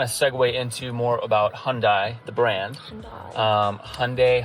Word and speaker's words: Hyundai: segue into more about Hyundai, the brand. Hyundai. Um Hyundai. Hyundai. Oh, I got it for you. It's Hyundai like Sunday. My rep always says it. Hyundai like Sunday.